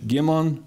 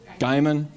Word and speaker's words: Gaiman: Helen was also known for cultivating forward-thinking faculty, including folks like Fred Gimon. Did I pronounce that right? Gaiman.